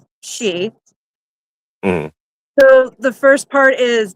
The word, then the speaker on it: Síth: I knew the second part that was uh, you know, spelled like Sith, but it's she.